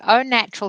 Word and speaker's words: Au Natural: your background right so own natural skin food yes you have pronounced it properly it is spelt au which is a little bit confusing but it is pronounced Oh H and O natural